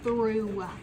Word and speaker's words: through: These are kind of silent. The H. What? Through. The G is silent.